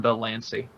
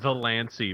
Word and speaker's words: Delancey: I said wait, hurry, don't say it like John the Lancey, because he sounds like a Sonic character then.